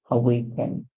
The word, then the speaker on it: awaken: together we have how a awake and in awaken awaken what does it mean to be awaken